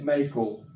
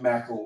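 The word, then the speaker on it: Mackall: there is a young man named Thomas Bennett Mel m a c k h excuse me a l l and it looks like mael you want to pronounce it like mael like macaroni but it say Mel Thomas B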